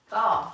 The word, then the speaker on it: Bath: Bath, like a bathtub.